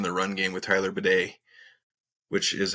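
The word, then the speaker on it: Badie: But it was nice to see Denver finally get something going in the run game with Tyler Bidet, which is how I guess he wants his name pronounced, weirdly enough.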